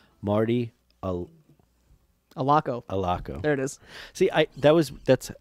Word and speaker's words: Allocco: Allocco.